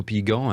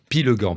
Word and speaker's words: Pillegand: J'ai bien prononcé votre nom Hugo Pigan hein. Pilegan, pardon.